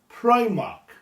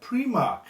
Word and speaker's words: Primark: Now, last couple of years, made a conscious effort to pronounce the name of this store correctly. Primark. But, before that, like all Welsh people, I called it Primark. And that's obviously what they're looking for here. Primark. That's how a lot of Welsh people will pronounce it.